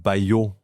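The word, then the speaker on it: Baillod: You know, we're talking before starting how to pronounce that brand name. Uh one of the main reason I didn't call it Bayo B A1 B A I L L O D.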